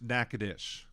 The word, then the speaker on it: Natchitoches: Natchitoches is pronounced Natchitoches.